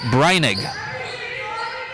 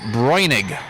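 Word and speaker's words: Breunig: she said he said in sauk prairie they pronounce it breinig middleton and other places they'll pronounce it bruenig that's honestly how i've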